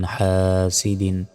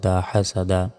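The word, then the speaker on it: حَسَدَ: হা scene জবর সাব হাসাদা এখানে থামলে শেষে করে সাকিন দিয়ে উচ্চারণ করতে হবে আর কফ বা জিম দালের পাশের উপর সাকিন থাকলে ধাক্কা দিয়ে পড়তে হয় উচ্চারণটা হবে হাসাদ ধাক্কা দিয়ে শেষে হাসাদ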